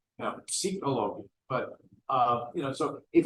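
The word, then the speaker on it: פסיכולוגיה: And I said, well, in Hebrew you do pronounce the P, psychologia.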